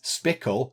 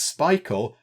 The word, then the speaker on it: Pikul: to pronounce this because you might think it's spittle like pickle but no they said it's Pikul like Michael and it's brilliant that